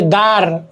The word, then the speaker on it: দ্বার: হ্যাঁ উদাহরণ, এই যে দ্বার, উদাহরণে কি দেখো উদাহরণে এই যে দ্বার, দ্বার, দ্বার, এই যে দ্বার আছে না, দ, ব, দ্বার, এখানে বটা কিন্তু উচ্চারণ হচ্ছে না।